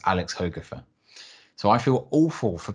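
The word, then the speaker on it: Alex Hogrefe: guy called alex hogafer now i have pronounced this guy's name as alex hoegrief for about 10 years and i only found out in an interview with him recently that his name is pronounced alex hoegerfer so i feel awful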